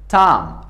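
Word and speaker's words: tomb: بی سایلنت است، ام تلفظ میشه. Another example is تام و مثال دیگه ایمو که است تام هست.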